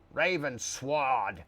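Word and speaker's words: Ravensword: You got to really pronounce the W. It's not up to me if you guys get killed, right? You'll note, where are you? Raven Sword.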